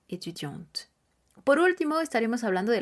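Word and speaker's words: étudiantes: en t e s pero la pronunciación será etudiant por último estaremos hablando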